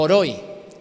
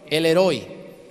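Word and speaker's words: El Roi: elroy el elroy o oroy el heroy se puede decir de las dos maneras porque no sabemos bien la pronunciación hebrea el heroy o el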